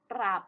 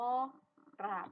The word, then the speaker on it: กราบ: กัน บ้าง นะ คะ คำ ที่ มี รอ เป็น คำ ควบ กล้ำ นะ คะ คัน ที่ มี รอ เป็น กับ ควบ ล่าง ๆ ก็ อยาก คือ คำ ว่า กราบ นั่น เอง นะ คะ